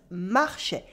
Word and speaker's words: marchait: And here we have a silent T at the end of marchait.